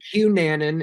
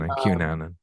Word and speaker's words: Cunanan: Cunanan is how you say it. Cunanan.